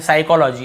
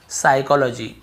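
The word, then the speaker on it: psychology: तो देखिए एस से पहले पी, ये तो आपको पता ही होगा, पी साइलेंट। स्टार्टिंग में पी लिखा हुआ है लेकिन हम पी को पढ़ते ही नहीं है। साइकोलॉजी, इसे हम क्या पढ़ते हैं?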